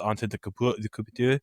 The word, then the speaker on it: Antetokounmpo: I went with Giannis Antetokounmpo at the 3-hole.